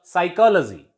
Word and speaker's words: psychology: Here our P is silent before S, and in the word pneumonia, P is silent before N. In this way, we can say that P is silent before N and S.